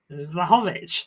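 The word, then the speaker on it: Vlahović: The way you say Vahovich. Vahhovich. That's how you say it.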